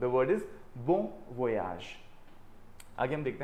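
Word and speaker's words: bon voyage: सो the word is बोन वोयाज।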